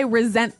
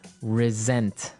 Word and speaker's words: resent: Resent. Resent. Okay. Now, this is spelled exactly like resent, like with an S, right? That's right. R E S E N T. But you pronounce it like a Z.